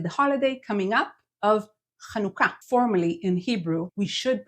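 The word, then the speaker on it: Hanukkah: you're probably pronouncing it Hanukah is to change your H sound in Hanukah to kanuka no need to shift the syllable stressing here kanuka our next word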